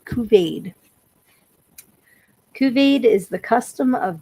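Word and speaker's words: couvade: Okay, Kuvade is how we're going to pronounce this. It's C O U V A D. Kuvade.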